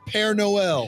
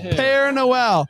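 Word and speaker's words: Père Noël: Noel how do you say it pair Noel pear Noel not in the air it's a Cajun tradition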